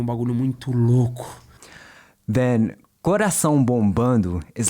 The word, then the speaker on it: bombando: Coração bombando. It's really common in certain parts of Brazil to drop that D, especially in the state of Minas Gerais.